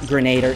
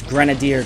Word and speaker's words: grenadier: It's not grenader, it's grenadier, guys. If you literally look up the pronunciation on Google, it's grenadier, all right?